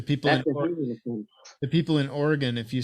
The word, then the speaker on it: Oregon: You can't say Oregon like it's spelled. Get mad, you little bitch. There ain't no damn E at the end of Oregon.